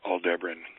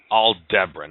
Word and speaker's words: Aldebaran: It's pronounced Aldebaran. Aldebaran.